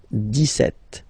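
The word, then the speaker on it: dix-sept: But then for the pronunciation, 17. Okay, so you don't insist on the S. 17, 17, 17.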